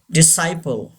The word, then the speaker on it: disciple: Disciple. Yes, C is silent. Sigh, not C.